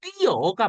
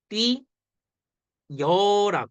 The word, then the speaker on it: 뛰어: 왔죠 그랬을 때 어 원래는 뛰어가 맞는 발음이 근데 어떻게 사람들이 발음도 해 띠 여라 발음 노래 이해돼음 이런 발음도